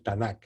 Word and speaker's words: Tanaj: que se ve como tanak bueno pues qué es lo que nosotros conocemos como antiguo testamento los judíos llaman el tanaj así como cómodo estoy pronunciando pues entonces dice la leyenda